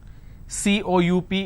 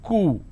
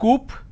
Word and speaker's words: coup: don't say government dislodge c-o-u-p is coup it's not Coop or cowp it's coup isolation quarantine gesture a